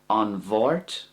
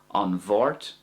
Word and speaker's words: An Mháirt: An Bhort or De Mort. That's the two ways to say Tuesday. An Bhort, De Mort. Now, if it's an MH sound, I pronounce that like a V sound.